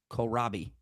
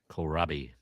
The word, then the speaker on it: kohlrabi: Kohl, which I would pronounce coal. Rabi, which I would pronounce Robbie. Kohlrabi. Kohlrabi. Kohlrabi.